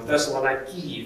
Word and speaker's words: Thessaloniki: he writes to the christians in thessalonica or thessaloniki if you want to you know try to pronounce the greek local festival nike we'll give